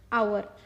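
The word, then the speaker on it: hour: आवर। आवर में आप देख सकते हैं ह is silent, so वी are pronouncing अ, सो इसका आंसर आएगा एन आर।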